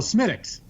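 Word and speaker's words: Smithwick's: Because I said, it's pronounced Smittix, but it's spelled Smithwicks.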